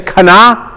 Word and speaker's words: kana: Can you say kana? And it's almost like, you know, Ben's theme was the Hulk. And you almost have to say it like the Hulk.